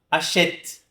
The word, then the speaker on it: achète: Eu não vou falar achète, nem achète, nem achète, né? Eu vou falar achète, tá? Como se eu não pronunciasse essa letra E. Por isso que é um E mudo, tá bom? Achète, pronuncio até o T.